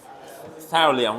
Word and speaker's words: thallium: I forget because only once per year.ศิริวิทย์ว่าไงฮะ Yeah, thallium, right? Yeah, it's pronounced like this.